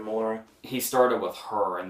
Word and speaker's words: Melora: I think that's how you say her name, Melora. That sounds right. Malora doesn't sound right. Yeah. So it's gotta be Melora.